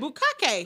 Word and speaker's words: bukkake: I said it right, bukkake. I know, but you were saying cock-y.